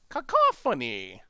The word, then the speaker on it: Cacophony: spells aah Carphone e cacophony um ha ha phony so it's like squadron Hawks style you're emphasizing the first syllable instead of the second ones right we need that